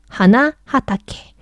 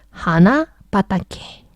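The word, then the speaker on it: 花畑: 하나 하다케. 발음이 세요. 하나타케. 그래서 땡땡이 붙으면 하나 바다케. 발음이 훨씬 쉬워요.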